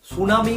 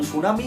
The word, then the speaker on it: tsunami: ভাবে আমরা করে থাকি, জাপানিজরা এই সুনামির ঠিটা ঠিক একই রকম ভাবে উচ্চারণ করে।